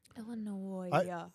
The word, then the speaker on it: Illinois: Illinois. There's no S that you actually pronounce in Illinois.